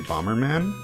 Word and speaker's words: Bomb Man: man's name is actually Bomberman even though they write it as bomb man it's like pronounced as Bomberman in Japanese which i think is